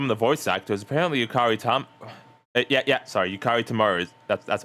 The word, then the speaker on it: Yukari Tamura: Apparently, Yukari Tamura. That's how you say it. Yukari Tamura is in it.